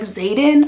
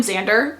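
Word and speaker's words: Xaden: I think his actual name is like Zayden or something like that, the love interest in that book, and I kept calling him Xander.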